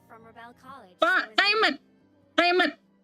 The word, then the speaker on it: Aemeth: Aemeth. Dibacanya biasa, Aemeth.